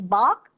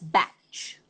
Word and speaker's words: Bach: First of all, there are people who pronounce it as Bach, like I do, and there are people who pronounce it as batch. Okay? Both pronunciations are correct.